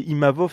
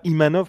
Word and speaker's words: Imavov: bien fait de dire c'est imavov et pas imanov parce que c'est vrai que la plupart des des des gens des Américains prononcent mal son son nom de famille donc avec Strickland l'avantage